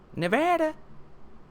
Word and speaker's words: Nevada: Nevada.